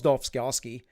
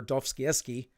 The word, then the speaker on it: Dostoevsky: This is why Nietzsche wrote about this, and rightfully so predicted, as well as Dostoevsky, that these things, or Dostoevsky, pronounce his name correctly, predicted these things would happen.